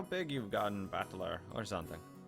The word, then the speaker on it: Battler: my given name that is made up of the characters for fight and person and is pronounced battler put it all together and you've got USI romia batler pretty crazy right again